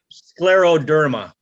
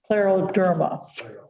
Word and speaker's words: scleroderma: Scleroderma. Scleroderma. Scleroderma.